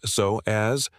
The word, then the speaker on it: psoas: The psoas, pronounced so as, connects the lower spine to the top of the thigh bone.